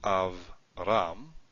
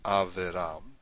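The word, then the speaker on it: אברם: So this is pronounced Avram, not Averam, but Avram. It's a silent Shewa, so it's not, the Shewa itself is not pronounced.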